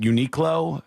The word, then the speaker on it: Uniqlo: Like, I just went to, I don't know how you say it. Is it Uniqlo? Yes. Uniqlo?